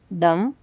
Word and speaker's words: thumb: B silent. Thumb. Thumb.